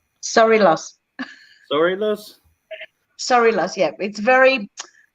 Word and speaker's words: Sorilos: Is it pronounced Sorilos? Sorilos. Sorilos? Sorilos, yeah. It's Greek with a bit of Italian in it.